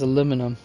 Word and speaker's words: aluminium: Only here in the United States do we pronounce it as aluminum.